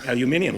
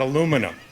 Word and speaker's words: aluminium: "It's aluminium, not aluminum."